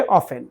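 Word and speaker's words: often: ये ऑफेन को ऑफेन को दो तरह से प्रोनाउंस करते हैं। इसको ऑफेन भी कहते हैं और उसको ऑफेन भी कहते हैं। यानी टी को हम कभी-कभी साइलेंट यहां पे इसको ऑफेन भी पढ़ा जाता है इस तरह। यानी टी को हम साइलेंट कर देते हैं।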